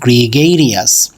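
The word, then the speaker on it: gregarious: সো আজকে আমরা যে শব্দটা শিখব, এই শব্দটার উচ্চারণ হচ্ছে গ্রিগেরিয়াস।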